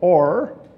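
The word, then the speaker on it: אור: The word there is or in the Hebrew. It's spelled O-W-R, but it's or.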